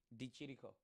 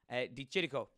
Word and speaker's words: de Chirico: man is Italian and how do I pronounce that name de Chirico okay thank you de Chirico de Chirico ah yes I guess